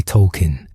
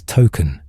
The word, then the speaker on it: Tolkien: In recent seasons, the show revealed his name is actually Tolkien, named after J.R.R. Tolkien, and that everyone had been mispronouncing it as token all along.